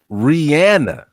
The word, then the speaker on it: Rihanna: They say, do you know what they say the correct pronunciation of her name is? Rihanna.